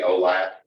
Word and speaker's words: OLAP: Obviously, the one with the enough vowels to be pronounceable, we usually say OLAP, and then the other one is just OLTP.